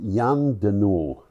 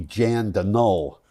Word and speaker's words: Jan De Nul: Yeah, I think that's pronounced Jan de Noul. Jan de Noul. Yeah, it's a Belgian company. I might be wrong about that. It might be Jan de Null.